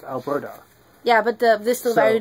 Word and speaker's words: Alberta: Alberta. Alberta, this is a flag. And in fact, it's actually a British name, quite pronounced.